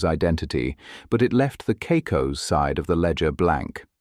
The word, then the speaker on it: Caicos: A kaikos pronounced kikos is simply one bead on that string.